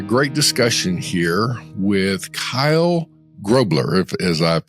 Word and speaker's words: Grobler: But it's actually pronounced Grobler.